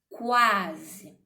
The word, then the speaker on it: quase: Porque quando eu falo essa palavra, quando eu pronuncio quase, eu vejo que eu tenho o som definido do Q e o som do U, quase, ok?